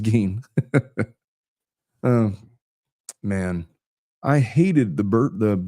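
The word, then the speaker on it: Gein: Pronounced G. I said gain, didn't I? It is pronounced gain.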